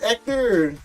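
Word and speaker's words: Héctor: The H is silent. Yeah, bro. Hector. It's Ector.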